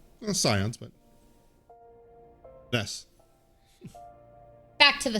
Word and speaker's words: Scions: Back to the Zions. Scions. But yes, back to the scions. Yes, that one I do know the pronunciation of because they do say that.